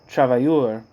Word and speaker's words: travailleur: in a single class under the name of travailleurs. Let's see, I've been pronouncing this word a certain way for a while.